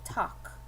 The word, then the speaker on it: talk: here i come to the word talk one vowel one sound just the a talk um i can do a couple things here i can write one for one syllable i can write t okay or i can change it to t a k excuse me talk i because remember this l is silence this is a silent l i can write the